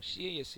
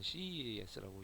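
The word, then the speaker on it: Sieyès: 뭐 CES라고 프랑스 학자인데 프랑스 정치가 얘기도 하고 이 사람은 뭐 CAS 이렇게 읽기도 한데 저는 CES라고 읽습니다.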